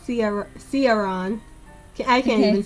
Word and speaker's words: Ciaran: Ciaron.